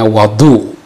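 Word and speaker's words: وضوء: Wa bi fathiha, sedangkan kalau dibaca fathah artinya wadu.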